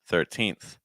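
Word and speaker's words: thirteenth: our next word 13th 13th okay your stress is on teen so whatever happens you just need to make sure that teen has the strongest sound teen 13 13.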